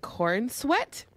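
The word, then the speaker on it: Corenswet: his name is David Corn sweat corn sweat yeah it's not a good last name is that how it's pronounced corn sweat it's like c-o-r-e-n-s-w-e-t corn sweat corn sweat maybe it's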